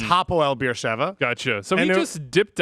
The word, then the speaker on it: Hapoel Beersheva: I said Hapoel Beersheva, which would be a Cypriot team. It's Hapoel Beersheva.